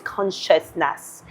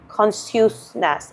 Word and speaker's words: consciousness: complicated, but it is consciousness. So if I read it, then my intuition would tell me that this is not pronounced as consciousness. It is sh. It is the sh sound, right?